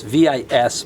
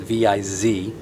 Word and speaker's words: Vis: one of these viz it's vis but it's pronounced viz made in poland quality